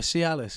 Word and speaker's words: Cialis: like what you get for your liver no see Alice it works yeah this is the way they pronounce it but it's like literally like it's